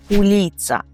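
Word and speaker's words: ulica: У кожному місті є вулиці і вулиця польською - це уліца. Уліца. На перший погляд дуже легке слово, але звертайте увагу на наголос. Ми кажемо уліца.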